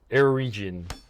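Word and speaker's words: Eregion: Because it's like region, but with an E at the start. Erigian.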